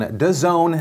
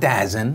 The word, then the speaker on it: DAZN: But also, two, in the buildup towards the actual fight, what was one of the weirdest things on DAZN, not DAZN, even though it's spelled that way, they literally did a side-by-side comparison of how many concurrent viewers their YouTube live streams had.